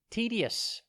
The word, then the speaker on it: tedious: time today's word is tedious it's pronounced t d yes and it is spelt t e d i o u s think ted like a teddy bear and then yes tedious is an adjective